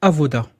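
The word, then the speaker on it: עבודה: l'avez ici c'est Avoda vous voyez la lettre B mais ça se prononce ve c'est Avoda on a une retranscription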